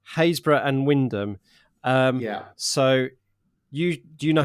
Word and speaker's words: Wymondham: It's W-Y-M-O-N-D-H-A-M. So phonetically, it would be Wymondham, but it's Wyndham.